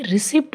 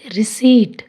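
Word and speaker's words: receipt: 99% लोग इसे रिसिप्ट बोलते हैं पर इसको कहेंगे रिसीट।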